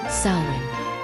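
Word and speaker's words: Samhain: On the night of October 31st, they celebrated a festival called Sin, pronounced sin.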